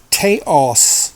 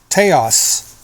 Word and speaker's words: Taos: H hum I had found um but it's it's spelled t a oos Taos Taos teos pine teos pine pure resin and that was